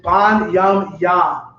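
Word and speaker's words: בנימין: get his name wrong the proper pronunciation for before benjamin in the hebrew is bon yam yah we say it because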